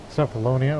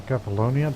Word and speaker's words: Cephalonia: Even though it's already linked up to Cephalonia or Cephalonia, depending on your pronunciation.